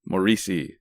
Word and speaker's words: Moreci: It is the one and only author extraordinaire, Moreci. Hey, how's it going, guys? Did I pronounce that right?